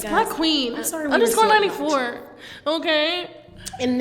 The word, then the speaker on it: BLCKQVEN: pronounced your Instagram name Black Quavine. Yo, it's not Black Quavine. Okay, y'all. I'm sorry. Let me change my Instagram name then, cause it's not Black Quavine. It's Black Queen.